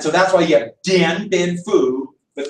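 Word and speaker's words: Điện Biên Phủ: And so that's why you have Dien Bien Phu, but that D is pronounced like a TZ, Sam.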